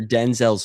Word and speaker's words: Denzel: after Denzel's father. That's even worse. 'Cause who the fuck is that guy? Well, that is how they say it in South Africa, where my mom's from.